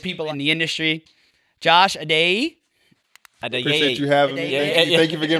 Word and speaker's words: Adeyeye: Josh Adeyeye.